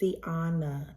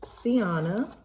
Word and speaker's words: Siana: we'll see about me my name is Siana it is pronounced Siana and I am 30